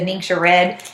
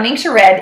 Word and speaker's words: Ningxia: he's been reducing that since he started the Ningxia Red, and he puts lemon and peppermint in his water. So those are great things. Now, Ningxia Red is amazing for supporting your immune system, and Ningxia Red actually has its own website.